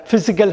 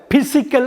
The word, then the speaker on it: physical: உடல் ரீதியாக, உடல் சம்மந்தப்பட்ட ஃபிசிக்கல் ஹெல்த் அப்படின்னு சொல்லுவாங்க. உடல் ஆரோக்கியம்னு சொல்லுவாங்க. பிசிக்கல் அப்படின்னு சொல்லிடக்கூடாது. ஃபிசிக்கல். PHYE ஃபீன்னு படிக்கணும். PHYSICAL ஃபிசிக்கல்னு படிக்கணும். ஃபிசிக்கல் health is important. உடல் ஆரோக்கியம் மிக முக்கியமானது. ஃபிசிக்கல் அது கரெக்டான உச்சரிப்பு.